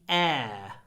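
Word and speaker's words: heir: e r which is very close to the word air he is his aunt's only air you see voice typing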